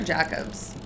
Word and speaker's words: Jacobs: Is that pronounced Jacobs or Jacobs?